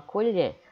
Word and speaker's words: colher: Quando eu digo colher, eu demoro mais aonde? No lher. Então a sílaba tônica é lher.